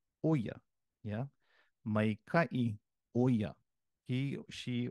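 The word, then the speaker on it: ʻo ia: And when in the piko position, you have the okina o preceding the word ia, and it's pronounced oya.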